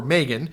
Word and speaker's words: Maghen: You can Google Megan Ward, which is spelled Mag Hen Ward.